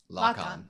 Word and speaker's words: Lakan: so I at least have a shot of pronouncing it correctly. Okay, you'd want to go back a little bit further. Lock-on.